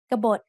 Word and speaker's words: กบฏ: กบฏ has two syllables. Just like the word ขนม which we have learned in lesson 14, there is an unwritten สระอะ after the first consonant กอไก่ and there is an unwritten สระโอ between บอใบไม้ and ตอปะตัก. Both syllables have middle class initial consonants and both syllables have dead endings, so they are both low tone.